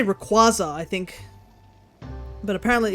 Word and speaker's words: Rayquaza: Pronunciation used uh to do just makes me think of squash because of how the qua is pronounced. Rayquaza Rayquaza.